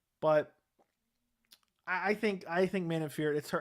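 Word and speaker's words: Manon Fiorot: to pronounce the name i think it's man in fear it is how you pronounce it uh but i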